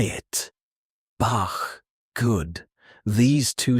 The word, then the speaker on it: Bach: Now, the hard ch like in Bach. This one comes from the back of your throat, stronger, deeper. Try it. Bach.